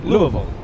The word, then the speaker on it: Louisville: Louisville yeah yeah L it's like two and a half syllables Lille it's not two it's not three it's right in the Louisville Louisville Louisville yeah but you say it like you have a mouthful of marbles Lou maybe that's